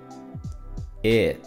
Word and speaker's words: it: It, it. Entonces esta palabra que es tan usada no se pronuncia eat, porque eat es el verbo comer, to eat, eat. Este sonido es e, e, it, it.